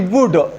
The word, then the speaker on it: would: पढ़ा होगा देखा होगा इसकी प्रोनाउंसिएशन जो है ये बिल्कुल इस वुड की तरह है यहां पे स्टूडेंट्स ये एल जो है ये साइलेंट है स्टूडेंट्स इस इसके तीन यूजज़ के ऊपर आज हम बात करते हैं।